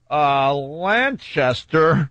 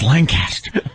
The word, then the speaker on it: Lancaster: on my way to Lanchester no said it wrong that's Lancaster oh my god you said